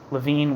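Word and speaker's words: Leviné: Soviet Republic, Eugen Levine, it's a Levine with an accent on the final E, who was executed on the 5th of June, 1919.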